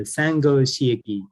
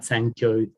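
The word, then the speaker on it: Sangō Shiiki: it's called uh the sango shiiki and this um it the title has this uh funny buddhist pronunciation if you know japanese so that's why it's not it's not sankyo which also has an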